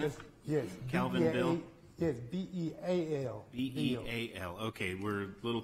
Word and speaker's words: Beal: Yes, B-E-A-L. B-E-A-L. Okay, we're a little confused by our list. It's not two men's first names, but Mr. Beal, pronounced Bill.